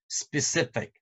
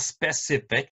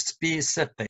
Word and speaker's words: specific: word how do you pronounce this word it's pronounced as specific not specific but it's specific specific so let's check it out it's really